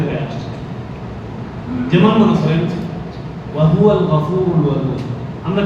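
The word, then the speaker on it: وهو الغفور الودود: আরবি তরতিব অনুযায়ী বা আপনার কিছু উচ্চারণ পদ্ধতির মধ্যে ভুল, যেমন হুয়াটা কিন্তু আলাদা, ওয়াহুয়া একই শব্দ নয়, ওয়াওটা আলাদা, হুয়াটা আলাদা।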